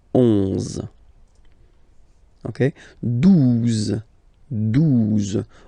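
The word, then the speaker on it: douze: Okay, 12. 12. O-U, the two together will give you the sound OO. Okay, and then Z. 12. 12.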